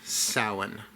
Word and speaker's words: Samhain: Now, for newbies, I know it's spelled s a m h a i n, but it is pronounced sin.